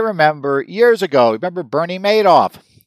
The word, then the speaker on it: Madoff: You know, Madoff, Madoff, depending on who you want, how you pronounce that, but everybody seems to think Madoff sounds better because he kind of made off with a lot of money.